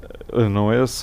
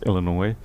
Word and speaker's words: Illinois: 3 me I mean until recently I had no idea that Illinois was pronounced Illinois I mean probably for 40 years of my life I pronounce that is annoy us or something like that and then one day here it's Illinois we have a I